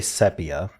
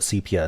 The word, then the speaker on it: sepia: sepia oh this is sepia so and I have been corrected on that pronunciation I used to say sepia um I still think sepia is acceptable but cpia is almost certainly the more common um ride share option